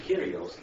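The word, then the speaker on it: κύριος: into the Greek, and they call it Kyrios, not Kyrios. But Kyrios is the correct pronunciation.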